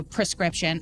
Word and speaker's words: prescription: I have another prescription, which I just found out is spelled P-R-E, not P-E-R, so prescription.